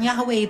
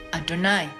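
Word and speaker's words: יהוה: aksara Ibrani Yod heewwe bukan yahwe itu orang Yahudi bacanya itu dengan adonai Adon Adon itu Tuhan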